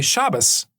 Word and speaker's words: Shabbos: One of the Hebrew letters, Tav, it makes kind of what I would say the T sound in the Ashkenazi version of it. In Sephardic versions is pronounced more like an S. So you might hear some Jews say Shabbat. Shabbat is the Sabbath. But you'll hear other Jews say Shabbos.